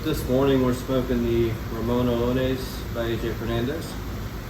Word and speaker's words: Ramon Allones: this morning we're smoking the Ramon Allones by AJ Fernandez. It's not the way you pronounce it. How do you pronounce it? Ramon Allones. Man, I can't say it like that.